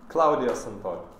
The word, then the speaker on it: Claudio Santori: Did I pronounce it correctly? But you can cut the Spadini because I'm not Spadini. Claudio Santori.